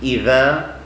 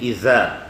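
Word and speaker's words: إذا: Okay, it is idha, zul, zila. Idha. When you say idha, you should not say iza. And when you say iza, you should not say idha.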